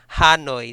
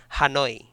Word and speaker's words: Hanoi: So I mispronounce the word Hanoi because earlier I said Hanoi, so it should be Hanoi.